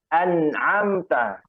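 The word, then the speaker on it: أنعمت: Ya, yang pertama hamzah, kedua ain. Maka yang pertama an, ya, yang an, ya, an. Hamzah a biasa kayak orang Indonesia a itu ya. Adapun yang kedua itu baru ain. An'am. Coba bareng-bareng. An'am. Silahkan. An'am. An'amta. Silahkan. An'amta. Ya. Jadi beda.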